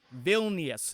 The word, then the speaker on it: Vilnius: Vilnius is the pronunciation correct?